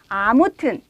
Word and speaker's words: 아무튼: 자, 우선 세 개의 말의 발음부터 확인할까요? 아무튼, 어쨌든, 하여튼 이렇게 발음을 하는데요.